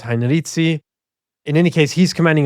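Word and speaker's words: Heinrici: As far as I know, the general consensus is Heinrizi.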